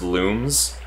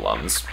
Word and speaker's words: Lums: Did you know they're actually pronounced looms? No, but I'm not surprised. Yeah, I call them lums.